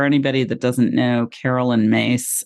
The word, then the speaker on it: Myss: it's car for anybody that doesn't know Carolyn mace it's um her last name is spelled very differently than it sounds it's m